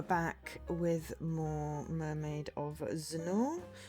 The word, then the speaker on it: Zennor: with more mermaid of zenor rhymes with Lenor we found this out